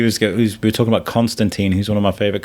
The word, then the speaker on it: Constantine: He says Constantine. And he's like, "It's not like a tomato tomato thing." He goes, "No, there was one thing where he says it rhymes with Clementine."